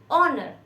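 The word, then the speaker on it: honour: pronounce होता है honest ऑनर माननीय इस तरह से हम इनको हा को साइलेंट रख के प्रोनाउंस करते हैं तो जब भी इनके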